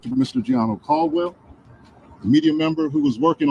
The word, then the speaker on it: Giano Caldwell: My name is Giano Caldwell. That is spelled G I A N O.